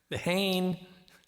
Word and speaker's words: Leehane: Leehane. Nice. Leehane is fine. Yeah. Leehane. The Lassie is silent, just like me.